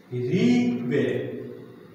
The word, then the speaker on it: ঋগ্বেদ: ঋগ যুগ বেদ, এখানে গয়ের উচ্চারণ হবে না, হবে কয়ের উচ্চারণ। সন্ধি বিচ্ছেদ করলে গটা হয় ক।